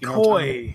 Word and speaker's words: koi: It wasn't that funny, or did I mispronounce qua pound? Is that how you pronounce it? Japanese quafish. Koi.